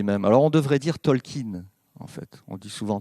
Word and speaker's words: Tolkien: alors on devrait dire talkin en fait on dit souvent tolkien mais on devrait dire talkin si on respecte bien l'accent de cambridge ou oxford comme vous voulez mais